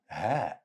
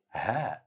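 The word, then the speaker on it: هاء: Ha. Ha. Let's see first how to write it. Just draw a small circle on top of the line. Easy. It's pronounced just like the English letter H.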